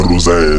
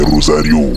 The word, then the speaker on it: Rosario: mot non vieux père c'est pas rosain c'est rosario voilà comme c'est un